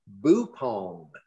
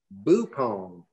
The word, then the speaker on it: Buppong: talks about her grandfather, whom they called Boupong. I think I'm pronouncing that right, any of you folks that are around, but Boupong.